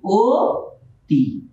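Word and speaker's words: অতি: যেমন আমরা যদি লিখি অ তি, এর উচ্চারণ এই যে এখানে শব্দের আদিতে একটা অ এসেছে, এই অটা পরে আমরা দেখতে পাচ্ছি একটা রসিকার আছে। তো আমরা এই রসিকার জন্য এই আদ্য অকে আমরা ও লিখব, ও টি।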